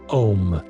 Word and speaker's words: Om: or either out loud, Om, spelled A U M and pronounced Om.